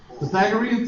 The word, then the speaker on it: Pythagorean: Pythagorean theorem, let's pronounce that because it sounds awful when you try to pronounce it when you're ignorant.